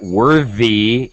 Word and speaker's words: worthy: It's it's Yeah, it's confusing because of course the word worth is the voiceless th sound. It's worth a lot of money, but worthy is is voiced.